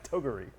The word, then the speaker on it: Toguri: Toguri. No, I think that's the correct pronunciation.